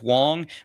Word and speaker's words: Wang: Because there's it's it's spelled W A N G, but it's Wong, but it's not the Wong's amplifiers that are the import amps.